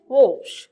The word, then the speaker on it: whoosh: দেখুন এখানে আছে WHOOSH, এখানে কিন্তু আবার উচ্চারণ হচ্ছে ওশ, the sound is ওশ, the sound is ওশ।